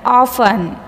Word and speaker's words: often: is a silent letter often often often in this word t is a silent letter next castle castle in